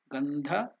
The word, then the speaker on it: gandha: to make correct pronunciation om gandha so the N here is not the ordinary y it is na is different is different that's why there